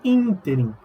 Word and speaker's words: ínterim: Tem várias outras, arquétipo, ínterim, não é interim, é ínterim.